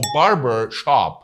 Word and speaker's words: barber shop: اسمه Barber Shop.